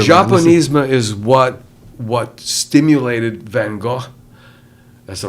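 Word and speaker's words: Van Gogh: Japanesema is what what stimulated Van Go.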